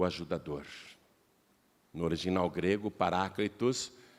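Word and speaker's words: παράκλητος: palavra e a palavra em grego é paraclitus nós falamos parakletos aqui no Brasil é mas em grego a pronúncia mais aproximada é essa que eu te falei paraclitus e eles viram a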